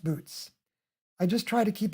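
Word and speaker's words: Boötes: to pronounce for example the constellation this is pronounced buotis not boots pop attack you're about to lead us a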